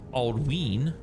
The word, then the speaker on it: Aldwin: Some examples: Aldwin is pronounced Aldween because of the long vowel sound on the Y.